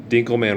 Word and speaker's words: Dinkelman: Dinkelman rhymes with Winkle.